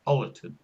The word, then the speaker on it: Ollerton: But it's pronounced Ollerton. No, you didn't. I did. I primed you. I said, I bet you can't guess how it's pronounced. So that's a clue that it's not pronounced as it's written.